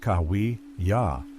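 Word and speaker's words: Cahuilla: The Cahila, pronounced Kawi Ya, were a Udo Aztec speaking tribe inhabiting California's Riverside and San Diego counties, divided into desert, mountain, and western subgroups.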